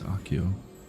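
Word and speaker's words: Accio: Aio AIO. I don't remember how to say it. All right. It's AO.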